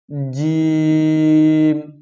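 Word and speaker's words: جيم: ধাক্কা লেগে প্রতিশব্দ হওয়া জিম হরফটি পাতলা করিয়া চার আলিফ টানিয়া পড়িতে হয় জিম হরফটি পাতলা করিয়া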